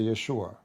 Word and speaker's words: Yeshua: a note uh and the correct way to say the word actually to say Yeshua Yeshua or Yeshua not even Jesus in English so lu the likeness of Jesus with Allah as his likeness of Adam.